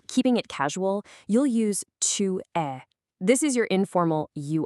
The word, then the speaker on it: tu es: it casual, you'll use tu es. This is your informal you are. And pay attention to the pronunciation here. Tu es. That S at the end, totally silent.